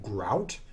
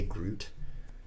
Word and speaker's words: Grout: And it's pronounceable, Grout. Although some people would say Groot.